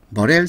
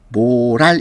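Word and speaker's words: morale: 5번, 머렐 서베이. 자, 모랄이라 되어 있지만 이거 읽을 때 모랄 이렇게 읽지 않고 머렐이라고 읽거든요.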